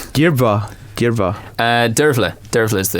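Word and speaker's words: Dearbhla: one with the BH if you think about the BH being a sort of a v g DEA derva uh der der is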